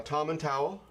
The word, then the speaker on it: Tomintoul: so we have a a tom and towel because it's pronounced with an owl on the end atomic tile 16 the